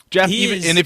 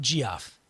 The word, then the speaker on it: Geoff: Jeff, Jeff or Geoff? It would be Jeff, you jerk.